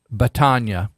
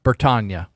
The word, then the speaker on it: Bertagna: And so I'm just going to, I think her first name is Robin Batania. And I'll correct it if I got it. No, it's Robin Bertagna.